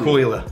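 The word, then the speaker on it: Caol Ila: Now, with the Kolila, how do you pronounce it? Kolila or Kulila? Kolila. Kolila.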